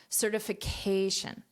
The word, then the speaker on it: certification: fly in space now notice this pronunciation certification certification where's the syllable stress certification so this is the syll syllable stress and I'm sharing this because the word certificate has a different syllable stress so this is the